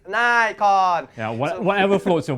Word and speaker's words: Nikon: or Nikon yeah but it's Japanese for goodness sake people it's Nikon yeah what whatever floats your boat yeah yeah anyway we're Asians so it's Nikon so anyway this is